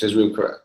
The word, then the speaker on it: Jezreel: Panamanian guy, how do you pronounce his first name? Jezreel, isn't it? Jezreel.